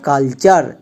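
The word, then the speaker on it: culture: চার তাহলে কি হবে কালচার নেক্সট এন এ নে টি ইউ আর ই চার নেচার তাহলে টি ইউ আর ই একে আমরা ভুল করেও টুরে এরকম উচ্চারণ করবো না এর উচ্চারণ হবে টার কারণ প্যাটার্ন এর ক্ষেত্রে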